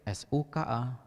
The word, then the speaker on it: suka: Lalu ada kata yang mirip, S-U-K-A, dibaca suka, artinya burung kakak tua.